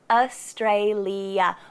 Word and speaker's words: Australia: Australia. We say it with 4 syllables. Is a bit of a schwa. Stray. Same again at the end.